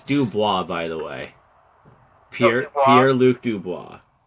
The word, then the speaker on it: Dubois: It's Dubois, by the way.